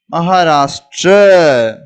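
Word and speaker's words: महाराष्ट्र: ட்ர ட்ர இது ஒரு எழுத்தோட இன்னொரு எழுத்து சேர்ந்து இருக்கு. அதனால தான் ட்ர அப்படின்னு உச்சரிப்பு வருது. அப்ப ம ஹா ரா ட்ர, மகாராஷ்டிர, மகாராஷ்டிர அப்படின்னு சொல்லுவோம்.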